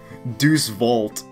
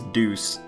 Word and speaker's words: Deus Vult: to happen huh Deus vault yeah I I when I used to read that as a kid I used to pronounce it as deuce oh man that's